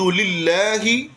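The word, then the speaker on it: لله: الحمد للہ، للہ لفظ اللہ کو باریک پڑھیں گے کہ اس سے پہلے زیر آ گئی۔ للہ رب را پر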